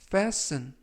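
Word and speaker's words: fasten: 표현이 되겠습니다 이번 표현은 페스 페스 떼쓰는 이라고 발음 하시면 되겠구요 이 때 유의하실 점은 티가 이번 단어 에서는 묵음 이라서 발음이 되지 않습니다 그래서 브래스 이라고 발음 하시면 되겠구요 품사는 동사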